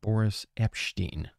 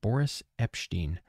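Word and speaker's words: Boris Epshteyn: want to talk about Boris epin is how you pronounce his name Boris epin so the article says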